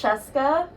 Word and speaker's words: Scieszka: me your last name it rhymes with fresca oh sorry say that again i forgot to turn you on it's jessica rhymes with fresca yes